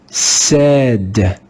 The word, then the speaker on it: said: In this word, the digraph AI is read with the sound E. Let's read the word together. Said. Said. You can see that the digraph is spelled with the same letters, but it's pronounced differently.